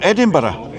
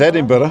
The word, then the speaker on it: Edinburgh: Well, in fact, Edinburgh is the German word, and you just say Edinburgh because you're English. Most Americans pronounce it Scottish. Edinburgh as well, but where you say burg, we say borough.